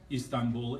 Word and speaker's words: Istanbul: Istanbul is a Turkish mispronunciation of Constantinople.